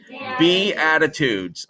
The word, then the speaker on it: Beatitudes: A lot of people didn't know how to pronounce that. Beatitudes.